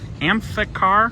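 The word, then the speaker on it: Amphicar: How do you pronounce that? Amphar. Yeah, I guess it's three syllables. I keep adding a B in there.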